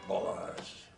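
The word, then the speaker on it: Balázs: Balazs. It should be Balazs. Balazs. Like all Hungarian words, the accent is on the first syllable.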